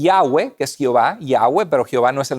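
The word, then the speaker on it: Yahweh: y ya ve escoba y agua pero jehová no es el nombre de dios sino es y h w la pronunciación probablemente era y agua y agua ya has escuchado ese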